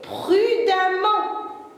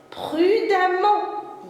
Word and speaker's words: prudemment: m ent mais attention les enfants à la prononciation écouter vieux prudent avec 2 mt son acte elle est prudemment écoutez vieux prudemment ya le son avant le sang un monde